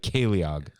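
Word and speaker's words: ceiliog: i l i o g like it's it's pronounced like like caleog okay and so the word for that is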